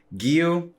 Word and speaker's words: Giyu: So yeah, and Giyu, I said it right?